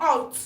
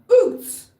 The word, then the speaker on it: Août: Août, not out. Août.